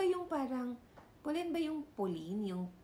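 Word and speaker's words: Polène: parang polen ba yung poline yung p o l e n e ay yes Oo ayun pala pronounce pala siya as polen so sabi niya doon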